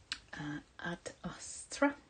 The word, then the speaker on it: Ad Astra: Ad Astra. It's Latin. I should not pronounce it like English because I'm Finnish.